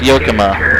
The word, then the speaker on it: Yakima: house yokoma chain widow says it's pronounced yokoma which i don't know any better so they probably do so we'll call it yokoma oh come on